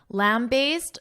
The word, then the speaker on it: lambaste: However, some positive comments have argued that the question isn't meant to lamb base men. Lamb based. Notice that pronunciation aced aced so along a sound lamb based men means to severely criticize.